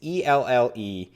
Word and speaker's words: ELLE: Is it L? It's ELLE.